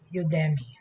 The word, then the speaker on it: Udemy: model with different features and specifications for example udemy udemy udemy whatever the pronunciation is u-d-e-m-y u-d-e-m-y is a platform that